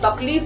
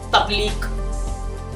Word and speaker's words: तकलीफ: तकलीफ जो शब्द है ना, तो बहुत से लोग उसको कैसे प्रोनाउंसिएट करेंगे पता है? तकलीक।